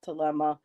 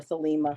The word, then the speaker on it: Thelema: One's the Telema or Thelema, however you want to pronounce it, and the Arcana.